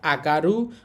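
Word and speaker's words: 上がる: একটা হচ্ছে উয়ে আরেকটা আগারু আরেকটা হচ্ছে উয়া। আর অনিয়মী চীনা উচ্চারণ হবে জো।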